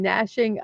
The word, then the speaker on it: gnashing: I know you do not pronounce the G. I'm being a little facetious. The gnawing and gnashing of teeth are two of Snortopoops' favorite things to do while eating.